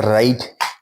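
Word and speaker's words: write: और राइट में W silent है। ठीक है? राइट।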